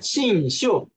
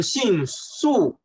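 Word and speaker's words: 信宿: 还泛泛 ”，信秀啊，有同学读的时候说到读成信素，这就不对了啊？为什么呢？就是因为它是用的双声，清秋也是双声。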